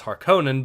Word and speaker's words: Harkonnen: the dune video games i grew up hearing it pronounced as harkonnen but i know both are basically correct so fair enough but